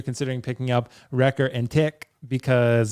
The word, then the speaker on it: Tech: Let us know whether you're considering picking up Wrecker and Tick, because that's supposedly how you say his name, apparently. And It's Ricka and Tick. You gotta say Ricka Ricka.